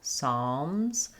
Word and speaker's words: Psalms: Psalms. Um, you can think about it like an A as well with a W. Psalms. The Z, the S sound at the end is a Z.